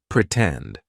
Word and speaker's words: pretend: in the word pretend the stress syllable starts with t tend pretend right so we're going to use the true T sound and then we can